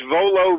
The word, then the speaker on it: Vuolo: it so yeah yeah it's volo video but you might you spell my name with a u after the v so that it's v u o l o video and you have